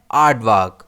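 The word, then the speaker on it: aardvark: अब इस वर्ड को हम प्रोनाउंस कैसे करते हैं? आर्ट वार्क और इसमें स्ट्रेस आ पर रहता है।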